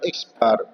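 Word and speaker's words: x̄: Ya, nama bacanya X bar sama dengan data ke-1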